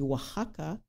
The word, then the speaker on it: Oaxaca: Oaxaca, ça s'écrit Oaxaca avec un X. Ça se dit Oaxaca.